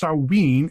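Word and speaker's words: Samhuinn: what is swinning Island is better pronounced saween in Scotland and will usually be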